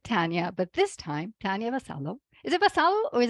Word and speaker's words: Vasallo: part two with Tanya but this time Tanya basalo is it basalo or is it basayo baso in Spain in Italy it's Vaso it